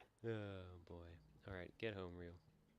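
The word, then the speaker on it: Ryo: Alright, get home, Rio. I've noticed people like turn his name into one syllable in this game, like, yo.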